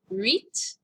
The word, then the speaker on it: huit: Huit. Ooh, this has a U sound.